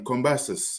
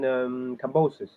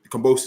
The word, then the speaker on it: Kambosos: Combasis. The current. You mean Kambosos? Kambosos, that's it.